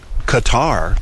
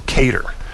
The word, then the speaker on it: Qatar: I know that uh cutter uh cutter actually Qatar the way you the way you uh the country is supposed to be pronounced cutter from what I've heard not not cter or cater uh you know pronunciation it's it's a flexible